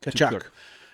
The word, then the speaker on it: Tkachuk: Tkachuk.